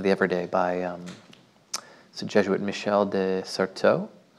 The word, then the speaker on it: Michel de Certeau: There's a The Practice of the Everyday by the Jesuit Michel de Certeau. Somebody pronounced the French better than I did. Michel de Certeau.